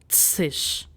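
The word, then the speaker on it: -zig: So in German it is tsish.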